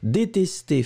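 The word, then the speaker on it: détestées: deuxième le deuxième détester détester féminin pluriel ça n'est absolument pas important on ne prononce pas le s on ne prononce pas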